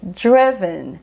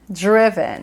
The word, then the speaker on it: driven: ou você vai falar driven do jeito que é bem escrito assim tá bem direitinho ou você ainda pode comer o final e falar driven driven É como se